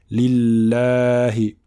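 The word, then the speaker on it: لله: Donc on dit lillahi. Alhamdulillahi et non pas lillahi. On ne dit pas alhamdulillahi. Alhamdulillahi. D'accord? Donc c'est un prolongement de 2 temps.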